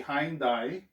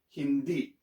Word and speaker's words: hindi: not going to be hindai so it's going to be e so you pronounce this hindi it's not hindi but hindi remember there's that accent so you have to cut it abruptly hindi so the next